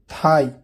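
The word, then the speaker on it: thigh: जी एच, किसी word के अंत में जी एच या जी एच टी हो तो जी एच साइलेंट होता है। एग्जाम्पल देखिए, हाई ऊंचा, थाई रान को बोलते हैं।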